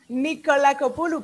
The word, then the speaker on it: Nikolakopoulou: And so this was our interview with Nikolakopoulou, and I'm Lavinia Planka. I did it wrong again. You say your name. I love it. No, I love it. It's Nikolakopoulou, but even Greek people never get it right.